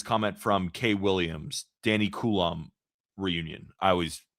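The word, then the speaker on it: Coulombe: Well, yeah, we're going to need you to hop in and give us the perfect pronunciation. Coulomb. I think I nailed it. Can you say that again? Yes. Coulomb.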